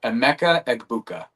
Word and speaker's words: Emeka Egbuka: And how do you pronounce it? Egbuka? Emeka Egbuka.